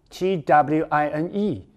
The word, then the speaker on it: twine: twist 那么他如果当缠绕来说的话 ladies and gentlemen 有两个同义字你可以记第一个叫做 twine T-W-I-N-E 这个单字很好记就是双胞胎的 twin 后面再加个 e 念成 twine亦或是嘿嘿 ,W-I-N-D, 注意它的发音哦。老师这个字我知道它当名词叫做风对当风的时候念成 wind, 当动词的时候念成 wind, 所以